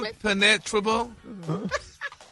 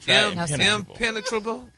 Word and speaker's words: impenetrable: Impenetrable. Im- pen- e- tra- ble. No, your your emphasis is on the wrong syllables.